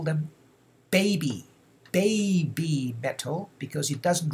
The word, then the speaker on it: BABYMETAL: see this you just lengthen the vowel in this case e vowel e e okay b b met okay so as you see here heavy heavy metal and baby metal are almost identical in pronunciation as well as writing okay writing okay and